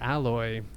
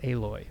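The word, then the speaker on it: Aloy: got picked on because i said alloy even though i have played uh horizon zero dawn the first one uh i did not remember how to pronounce her name but i guess it's a loy so apologies to gamer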